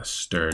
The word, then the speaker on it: str: this ampersand stir um usually people will pronounce it uh stir just so that you know which one you're talking about this one is also